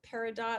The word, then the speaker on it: peridot: Another one is peridot, sometimes pronounced peridot. I believe the original pronunciation is Latin and is peridot.